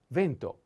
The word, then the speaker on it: vento: means rain okay then vento vento vento pento the accent is on e is a masculine noun and the meaning is